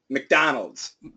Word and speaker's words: McDonald's: a wrist very good it's not Mac it's MC McDonald's MC M McDonald's good McDonald's McDonald's McDonald's